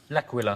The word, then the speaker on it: L'Aquila: L'Aquila. Laka squawkalaka. I could never pronounce that word. That's okay. It is a night of bad Italian impersonation, so we'll let you in. But it's called L'Aquila.